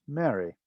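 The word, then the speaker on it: mry: referred to as beloved and beloved in egyptian is spelt m-e-r-y and pronounced mary so again we have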